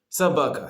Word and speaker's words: собака: Собака сейчас. Собака, мы писаем собака Собака. И вот мы не читаем собака, но мы читаем собака. Почему? О это ударение. О это нет ударений. И мы читаем как А.